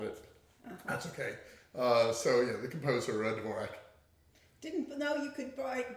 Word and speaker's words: Dvorak: Jean Dvorak, which I'm probably not pronouncing correct. I think Dvorak.